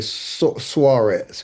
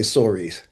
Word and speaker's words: Soaries: Yeah, the very sophisticated, high class, well educated folks say Suarez, but most common folk just say Soaries.